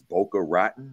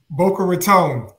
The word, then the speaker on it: Boca Raton: pronounce it I I I guess it's Boca rotten is that is is Boca Raton Boca Raton I never asked